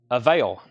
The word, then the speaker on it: Avail: Like available, but just the first syllable, right? Avail.